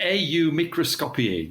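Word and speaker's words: AU Microscopii: even say it microscopium e Au microscopi give it its Latin pronunciation or usually known as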